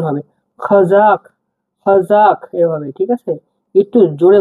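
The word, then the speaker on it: Қазақ: একটা পাড়া গেছে এক্সট্রা এটাকে আমরা ক উচ্চারণ করব একটু গভীরভাবে ঠিক আছে দেখুন গভীর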